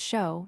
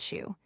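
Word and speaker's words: shew: The word, of course, is pronounced show, not shoe.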